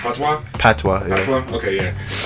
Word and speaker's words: Patois: What's it pronounced? Patois.